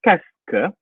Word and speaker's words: qu'est-ce que: Cara bacanya adalah qu'est-ce que. Jadi bahasa Prancis itu sederhana dan ribet di saat yang sama. Sederhananya apa? Yang sepanjang ini nyebutnya cuma qu'est-ce.